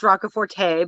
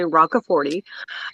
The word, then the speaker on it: Roccaforte: Often pronounced Roccaforte, but it is actually Roccaforte.